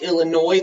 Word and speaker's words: Illinois: indiana illinois it's pronounced illinois the s silent so you get ohio indiana illinois michigan and the last